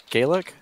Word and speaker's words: Gaelic: it north of kidding Gaelic we promise a Gallic yeah I don't know we we've always just incorrect well we just pronounce it Gallic so that's our language okay like Welsh come